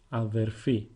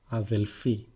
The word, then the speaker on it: αδερφή: Sister is feminine and it is translated as αδερφή. Αδερφή. Once again, you might hear it as αδελφή.